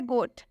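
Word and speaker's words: goat: पहले एग्जांपल है गोट गोट में ओ के बाद से ए आया है जैसा कि रूल में बताया गया कि जब भी ओ के बाद से ए आए तो इस ओ का उच्चारण ओ से हो जाएगा ओ का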